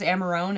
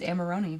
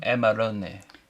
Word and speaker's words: Amarone: Because I thought it was Amarone, and then I literally Googled the pronunciation, and it's Amarone. Amarone.